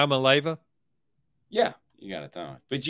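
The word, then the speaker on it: Iamaleava: broke it down into i am a leaver yes but i don't think you're pronouncing it right try it one more time yeah i'm a leyva yeah you gotta thought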